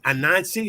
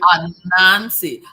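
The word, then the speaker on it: Anansi: It's a Nazi. Say that. Pronounce that again. A Nazi.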